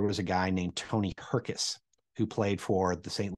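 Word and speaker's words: Hrkac: Like, for instance, there was a guy named Tony Herkus who played for the St. Louis Blues hockey team. And Herkus is spelled H-R-K-A-C. She actually pronounced his name Tony Harkake.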